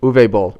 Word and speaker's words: Uwe Boll: Uwe Boll.